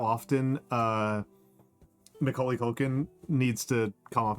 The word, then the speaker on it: Macaulay: Yeah, did I mispronounce his name? It's Macaulay.